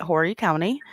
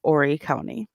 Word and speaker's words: Horry County: that count that as well I called it Horry County and I was corrected and it's pronounced Horry County I just you know I didn't call in